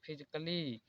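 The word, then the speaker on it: physically: जैसे देखिए म्यूजिकली, double L वाई के बाद ए आया है, इसलिए यहाँ पर ए साइलेंट है। यहाँ पर म्यूजिकली, म्यूजिकली नहीं पढ़ा जाता है, यहाँ पर फिजिकली, लॉजिकली।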